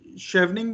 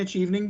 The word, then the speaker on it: Chevening: अब जो एक और स्कॉलरशिप है जिसको कहते हैं शेवनिंग भी कहते हैं, अचीवनिंग भी कहते हैं, दो अलग अलग प्रोनाउंसिएशन है।